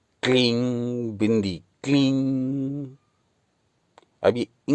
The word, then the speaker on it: क्लीं: से पढ़ते हैं परंतु इस बिंदी का सही उपयोग इस अनुस्वार का सही उपयोग क्लीम का के साथ तब है जब आप इसको अंत में ग और म का उच्चारण करे बिना ही छोड़ दें क्लीन क्लीन क्लीन यानी इसमें म और ग का उच्चारण ना हो यह वह बिंदी है